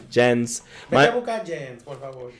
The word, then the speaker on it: Jensen: Jensen. My mom says my name in Spanish like it ends with a G. Like Jen.